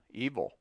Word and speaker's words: evil: The rule is sometimes applied to devil and evil, but it is better to suppress the vowel and say devil, evil.